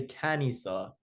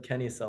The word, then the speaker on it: kenisa: Now I will say this, the machadis do have a separate pronunciation. They kind of say canisa with an instead of kisa like the rest of us.